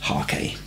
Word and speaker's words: hake: i'm using this large hakey or is it egg you say tomato i say tomato no but i'm sure it's originally an oriental brush and pronounce hakee so let it soak